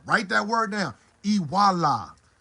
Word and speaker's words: Iwuala: In Igbo terminology, what we mean by that is Iwuala. Iwuala. Write that word down. Iwuala. It's spelled Iwala.